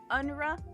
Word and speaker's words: UNRWA: UNRWA, UNRWA.